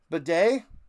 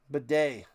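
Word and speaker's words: Badie: Um that is Bedet. It's not Batty. They were mispronouncing it. Bedet.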